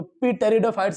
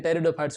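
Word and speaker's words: Pteridophytes: जैसे आपका एक और वर्ड आता है टेरिडोफाइट्स, तो पी टेरिडोफाइट्स नहीं होते हैं, टेरिडोफाइट्स होते हैं, तो किसी किसी जगह पर पी साइलेंट होते हैं।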